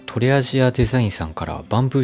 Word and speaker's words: TA+d: いこうと思います ta + d と書いてとりアジアデザインと読むんですけれども台湾